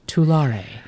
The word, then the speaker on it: Tulare: So I looked it up on Google, and there were 3 different pronunciations with the little audio. One was Tulare. One was my favorite, Tular. And people were commenting, that's only half the word, bro. Which is hilarious. And Tulare. So I will probably still slip and call it Tulare.